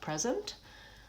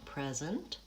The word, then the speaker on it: present: Same thing with present. First syllable stressed, present, pure vowel and long, present, versus present. First syllable is, the vowel is changed to vowel I, reduced, and zent is stretched.